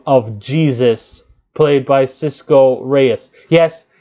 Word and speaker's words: Jesus: wants to be called jesus not the dude on the cross he wants to be named jesus pronounced like the dude on the cross he do not like to go by asus sorry about that he